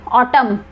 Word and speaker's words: autumn: जैसे इसको हम प्रोनाउंस करेंगे ऑटम, बट लिखते क्या है AUTUMN, यहाँ पर N साइलेंट रहता है।